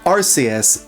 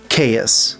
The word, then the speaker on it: Arceus: by Greek and Roman words, it seems like RCS is our answer. I cannot find a single word with C EU S that is pronounced chaos.